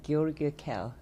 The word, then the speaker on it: Georg Kell: So, you know, when I was talking with the George Kell, sorry, the name, and because he said German pronunciation, Georg Kell, right? And we had an excellent meeting this morning, And we are taking on joint initiative.